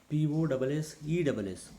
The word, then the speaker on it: possess: P-O-S-S-E-S-S, possess. Now in this word P-O-S-S-E-S-S, the medial double S are being pronounced as Z, and the end double S is being pronounced as Sa.